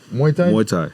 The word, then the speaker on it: Muay Thai: for a little bit mu Thai Muay Tha Muay Thai mu that's the official pronunciation fire crazy knees and and elbows bro